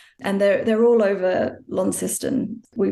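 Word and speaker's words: Launceston: big sprawling veranda and they're they're all over lony we pronounced in Tasmania Lon not Lon but they're all over sort of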